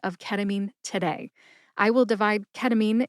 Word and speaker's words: ketamine: Emphasize that first syllable. K. Listen to the emphasis when I say it again. Ketamine. Ketamine.